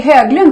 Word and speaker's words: Höglund: So welcome, Höglund. I say Höglund because you have a very, very Swedish last name.